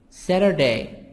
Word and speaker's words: Saturday: Thursday, Friday, Friday, Saturday, Saturday, T soft D, Saturday, Sunday.